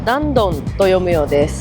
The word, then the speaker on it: Dandong: Trong tiếng Trung, nó được phát âm là dan dong.